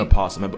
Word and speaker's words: opossum: again that is an opossum and before y'all get on me some people say the yo is silent others don't animal planet pronounce the oh so i do too okay differences opossums